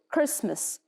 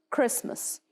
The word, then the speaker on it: Christmas: And the T here is usually silent, so the T is not pronounced. So Christmas. Christmas.